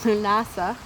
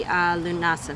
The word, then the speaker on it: Lughnasadh: Okay, so I know I told you I want to do a video about Lughnasadh.